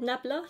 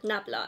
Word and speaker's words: Nabla: like so this is from a brand called nabala i think that's how you say it nabla yeah nabla and this is the viper lip plumping lip